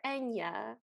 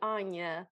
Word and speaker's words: Anya: a destiny and then he calls her enya like the singer even though i'm pretty sure her name was supposed to be anya based on the fact that it's spelled with an a yeah so we see